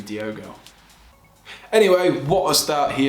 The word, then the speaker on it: Diogo: pronounce his first name he has an o in it instead of an e so i don't think it's diego it must be diogo anyway what a start